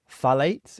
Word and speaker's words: phthalates: What are phthalates?